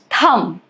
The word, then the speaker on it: thumb: Plumber, dumb, thumb, debt, doubt, subtle. All of these examples, as you can see, letter B is silent.